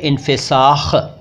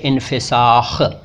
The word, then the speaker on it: इन्फ़िसाख़: फिर काबिले इन्फ़िसाख़। उच्चारण ख़ास तौर पर सुनिएगा, तलफ़ुज़ पर ध्यान दीजिएगा। काबिले इन्फ़िसाख़ मतलब वो वचन, वो